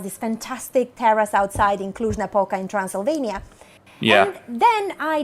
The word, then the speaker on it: Cluj-Napoca: romania yes oh yeah see it's better to pronounce the name of the city that is in the heart of Transylvania cluj-napoca yes indeed some sort of vegetarian food huh